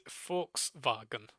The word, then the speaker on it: Volkswagen: actually pronounced? I'm not good at German, so probably like just Volkswagen. So it is Volkswagen.